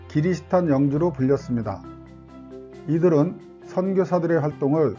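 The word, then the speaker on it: キリシタン: 나갑니다 개종한 영주들은 크리스천의 일본식 발음인 기리스탄 영주로 불렸습니다 이들은 선교사들의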